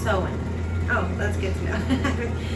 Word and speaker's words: Samhain: of the longest night of the year samhain pronounced sowing oh that's good to know been saying it wrong the whole time i feel like i've heard it champagne before all right they believe that there was